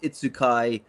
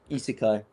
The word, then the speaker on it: isekai: be a sort of Itsukai, people go to sleep on a stag do and wake up in a fantasy world and have powers. Isekai. Sorry, Jay, correcting my pronunciation.